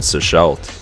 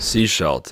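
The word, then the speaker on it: Sechelt: Seashelt, I think that's actually how you pronounce it, is one of the last bigger towns before the wilderness really begins.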